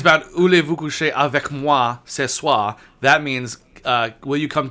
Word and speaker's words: Voulez-vous coucher avec moi ce soir: What about Ulu vous couchez à ce soir? Okay, No, well, that's it's, not- pronou- that's it's not- pronounced. It's about "Voulez-vous coucher avec moi ce soir."